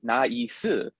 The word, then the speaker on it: nice: But my favorite example is the word nice in English, and how many syllables is that in English? Yeah, it's one, right? One, but, yeah. But in Korean, it's three, nice, and I love that